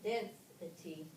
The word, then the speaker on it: density: It shifts from the first syllable to the second syllable when we add the suffix. Listen, density, equality, humanity.